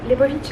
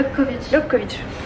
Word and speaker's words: Lobkowicz: Du coup on s'est posé au café du musée Lebovitch, hein, c'est ça? Lobkowicz. Je ne sais pas du tout prononcer le tchèque.